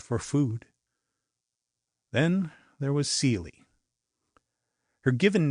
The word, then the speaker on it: Ceely: Then, there was Seely. Her given name was Celia, but pronounced with a long e sound as befits the Appalachian foothills of Pike County, Ohio, where she was born in 1873.